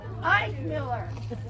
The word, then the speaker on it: Eckmiller: Okay, Eckmiller. How do you say it? Ike Miller.